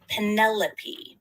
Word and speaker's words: Penelope: I understand there are a lot of syllables in my name, but it's actually pronounced Penelope.